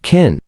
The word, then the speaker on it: Qin: China is named after the Chinese word kin. It is written as Q I N but pronounced asqin.qin was the name of an old dynasty which ruled China 2,000 years ago and unified China.